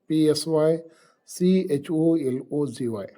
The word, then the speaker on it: psychology: ಈ ಉದಾಹರಣೆಗೆ ಸೈಕಾಲಜಿ ಅಂತಕ್ಕಂಥ ಶಬ್ದವನ್ನು ನಾವು ತೆಗೆದುಕೊಂಡಾಗ, the spelling of ಸೈಕಾಲಜಿ starts with PSYCHOLOGY, ಬಟ್ the pronunciation of the word is psychology.